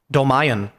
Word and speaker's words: Dolmayan: John, how do you pronounce his name? Dolmayan.